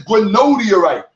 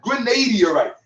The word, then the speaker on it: granodiorite: It is granodiorite, not granadiorite.